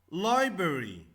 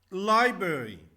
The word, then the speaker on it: library: We pronounce Y as I.